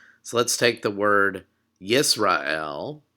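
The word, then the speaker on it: ישראל: the Hebrew Bible so our first syllable is yees excuse me yeess and you'll see the schwa there underneath the sin so the letter that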